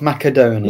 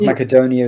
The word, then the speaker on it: Macedonia: Technically, North Macedonia is right. Apparently, if you're doing it the local kind of Greek, ancient Greek pronunciation, Macedonia is correct.